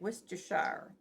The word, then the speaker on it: Worcestershire: I said it right, Worcestershire.